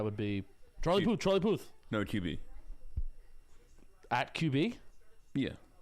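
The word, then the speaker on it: Puth: name po po yeah plof no without the L poofy is po th like like plth without the Ellen with a th Charlie poth poth yeah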